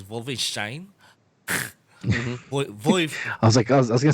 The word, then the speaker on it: Wolfenstein: you know games like Wolfenstein actually that the actual pronunciation of offices is vulva shine boy all I can